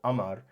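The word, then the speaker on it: قمر: And, you know, this kind of matters because, like, so for example, Amar, obviously, so the qa is being pronounced as a hamza, as a glottal stop, Amar, instead of qamar.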